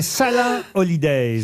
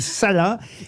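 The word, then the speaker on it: Salaün: à travers le monde salin holidays ça s'écrit S a l a u avec un trèain sur le N holiday mais ça se dit salin et c'est vrai que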